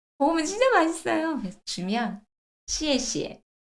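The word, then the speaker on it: 谢谢: 합니다 쉐 이래요 오늘부터 쉐 쉐라 발음은 잊어 버리겠습니다 쉐쉐 아니라 중국어의 리얼 발음으로 갈게요 시시 다르죠 시에시에 잘 한정하면서 시시 떨어져야 돼요 시에시에 오케이서 쉬쉬 아니에요 시에시에 시에시에 고맙다 시에시에음 내가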